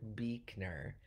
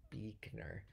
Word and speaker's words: Buechner: It's Frederick Buechner. Frederick Buechner.